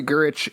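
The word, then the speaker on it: Gyrich: So then this issue, we're getting a split focus between Henry Gurich is taking over Gamma Flight. I think it's Gyrick. Yeah, it's Gyrick? Have I been pronouncing it wrong my entire life? Yes.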